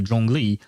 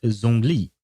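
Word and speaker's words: Zhongli: To be fair, for instance, with the Jong Lee, at first I did not know how to pronounce his name. I would pronounce it Zong Lee because it's a Z.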